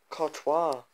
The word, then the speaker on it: Courtois: Oh, it's Courtois.